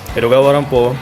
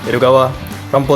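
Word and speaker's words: 江戸川乱歩: Jika diucapkan dengan aksen Jepang, Edogawa Rampo terdengar seperti Edgar Allan Poe.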